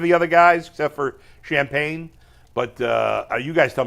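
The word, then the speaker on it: Champagnie: we say his name it's not champagne it's champagne champag champag OB toppen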